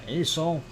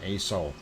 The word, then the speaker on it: Aso: And yes, Aso should be in there somewhere. Unfortunately, it is not. So let us move on. And yes, that is spelled ASO for those who are new. And it's Aso-san.